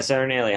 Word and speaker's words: Saturnalia: How's it pronounced? Saturnalia? Yeah, Saturnalia.